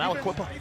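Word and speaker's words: Aliquippa: Nir Wade from Alequipa. Oh man, Pennsylvania. I think that's how you say everywhere, man. That's how you say it, man. Aquipa.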